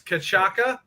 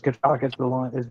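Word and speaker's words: cachaça: Dewey, it's cachaca. I can't pronounce that right. And then lime, sugar, and ice. Yeah, so it's cachaca is the alcohol in it.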